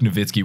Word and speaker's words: Nowitzki: yeah I think Rowena unless it's like Dirk Nowitzki where it's spelled with a W and you say with a V and she's like Rana